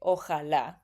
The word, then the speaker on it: ojalá: In Mexico, we say ojalá. His J is a little bit softer. It's more like an H almost, you know. Ojalá, ojalá, ojalá que los míos nunca se muden.